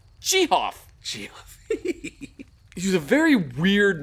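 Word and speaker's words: Gehoff: but he insisted that his name was pronounced jihoff he was a very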